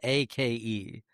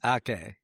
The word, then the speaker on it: Ake: It's spelled A-K-E. So Ake, right? Ake, yes. It's Ake.